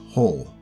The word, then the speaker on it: Joel: his character is mexican so it's pronounced whole and yep it was